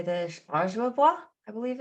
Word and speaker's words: Ojibwe: and I don't know how to say this, Ojibwa, I believe it's something like that. Ojibwe. Yes. I heard it. I looked up like how to pronounce it online, but I don't remember.